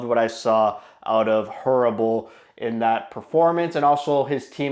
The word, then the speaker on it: Hrabal: Hrabal, it's pronounced Hrabal, which I still hate that it's pronounced that way.